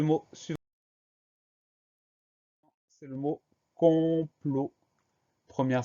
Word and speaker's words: complot: On a une lettre muette à la fin de complot, c'est le T qu'on n'entend pas, mais qu'on va retrouver dans le verbe comploter.